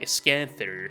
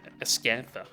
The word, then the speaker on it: Ascantha: Like, with that very weird pronunciation, like Ascanther instead of Ascantha.